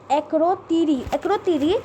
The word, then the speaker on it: Akrotiri: The enemy is Cyprus, and their boundary is by United Nations buffer zone in Cyprus, and then by Akitoria. I can't pronounce it. Akrotiri.